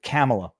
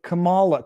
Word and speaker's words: Kamala: out like they with camela they they they they accuse you of mispronouncing Kamala kamala's name Kamala when they wanted it to rhyme with Camelot which would mean that you pronounce it camela whatever doesn't really matter